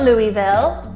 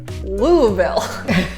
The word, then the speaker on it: Louisville: is coming up now no it's not Louisville and it's certainly not Lewisville it's Louisville the next one on